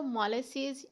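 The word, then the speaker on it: molasses: इसको मोलासेस या इस तरह की प्रोनाउंसिएशन में नहीं बोलेंगे, आप इसको बोलेंगे मोलासेस।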